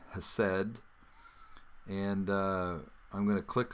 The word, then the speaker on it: hesed: I'll click on that and it will take me and isolate the word, and it's called hesed, pronounced that way.